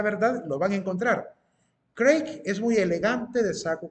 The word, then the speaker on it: Craig: Se escribe C-R-A-I-G, Craig, o Craig, se escribe con G al final.